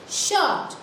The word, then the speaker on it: short: SH सुनाई दे रहा है, T भी सुनाई दे रहा है, but we cannot hear the sound of R. So R is silent.